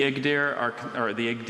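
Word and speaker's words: Igdyr: The Igdir are considered one of the original 24 tribes of the Turks who migrated westward across Asia into Persia and Anatolia.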